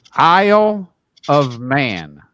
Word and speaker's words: Isle of Man: Isle of Man. Isle of Man, not France. Isle, as in a grocery store shopping aisle of Man. Except it's spelled with an I instead of an A.